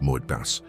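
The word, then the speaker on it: מועד: The word in Hebrew that describes exactly what is happening to you this specific Tuesday is moed. Pronounce it with me in a low voice.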